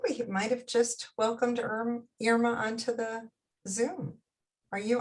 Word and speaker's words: Irma: It's Irma, like Irma Ladouce, Irma Bombeck.